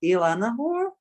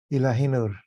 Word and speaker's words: Ilahinur: Ilanahor? Ilahinur. Say that again. Ilahinur. Ilahinu. Yeah, Okay. Ilahi is divine, Nur is light in Okay. Turkish, Arabic.